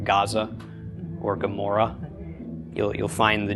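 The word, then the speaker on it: עמורה: Gomorrah. Gomorrah. It's like swallowing your tongue while saying Amora.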